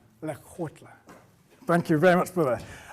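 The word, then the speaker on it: Lekgotla: Okay, that's the essence of Lakota. Excellent. Here we go. One more time, so I've got the pronunciation. Lekotla.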